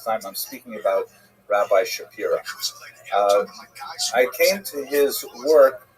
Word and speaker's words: Shapira: Rabbi Shapira is the common English transliteration of his name, although it really would have been pronounced Shapiro in Poland.